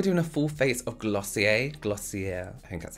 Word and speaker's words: Glossier: So today we're doing a full face of Glossier, I think that's how you say it.